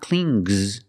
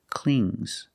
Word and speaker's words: clings: If I change it with an S, I hear clings, clings. It's a soft G. Not clings, but clings.